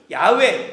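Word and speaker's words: 야웨: 복원하는데 많은 연구를 거듭합니다 그리고 그 결론을 야외 또는 야회고 결론을 내리죠 그런데 누구도 신성사문자 발음이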